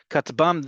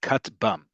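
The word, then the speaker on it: כטבם: Katbam, this one we, um, say as a word. This acronym we say as a word. Most acronyms we pronounce as a word. In this case, katbam.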